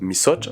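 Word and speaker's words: misaotra: Par exemple, dans le mot merci, qui se prononce misocha, vous voyez le O, misocha.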